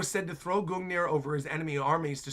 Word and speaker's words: Gungnir: Also, yes, it's pronounced Gungnir. Gungnir.